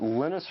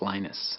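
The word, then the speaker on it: Linus: before and that's when lenus t came along lenus or lonus what's the exact your preferred pronunciation um when I speak Swedish it's lenus when I speak Finnish it's lenus when I speak English it's lonus and I really don't care how people pronounce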